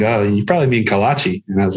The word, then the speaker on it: kolache: Which I pronounced wrong for a while before somebody finally corrected me. So. Yeah. Luckily, my wife she grew up in Houston, so I learned early on it's a kolache.